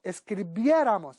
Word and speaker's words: escribiéramos: Otro verbo, escribir, decimos escribieron, suprimimos ron y añadimos ra, ras, ra, ramos, rais, ran, y decimos escribiera, escribieras, escribiera, nosotros escribiéramos, acento en la E, escribierais y escribieran.